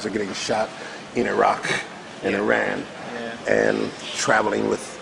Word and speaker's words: Iraq: It's not Iraq. If you want to say it properly, it's Iraq.